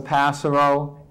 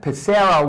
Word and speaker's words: Passero: It's not Passero. Learn how to pronounce people's names before you say it on the air. By the way, if you think about it, Passero would be spelled P-A-S-E-R-O. Passero is P-A-S-S-E-R-O. Think about how you separate your syllables.